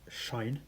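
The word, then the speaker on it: sinh: So the pronunciations this is shine so shine of x this is kosh of x and this is either pronounced tanch of x or fan of x.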